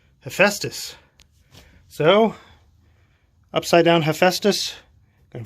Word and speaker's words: Hephaestus: Well, by the way, I did Google, actually I didn't Google, I DuckDuckGo search, and this is pronounced Hephaestus.